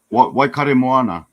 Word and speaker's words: Waikaremoana: So I like so yeah, for our guests, I guess what's Whakatemoana? Is that how you pronounce the name of the lake? Waikaremoana.